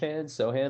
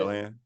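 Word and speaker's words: Sochan: Jeremy Sohan a little bit. Sohan. I can't believe I butchered his name.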